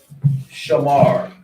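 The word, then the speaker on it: שמר: yeah does she understand sh has its own sound Mar is two sounds together Ma and ra which makes Mar Shamar that's why you use connectors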